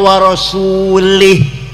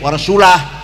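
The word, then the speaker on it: وَرَسُولُهُ: Wa annallaha barium minal musyrikina wa rasulih. Artinya Allah tidak melindungi orang musyrik dan tidak melindungi Rasulullah. Salah. Salah itu yang benar bacanya. Waallahaium minal musyrikinaasulah. Jangan warasulih tapi wa rasul.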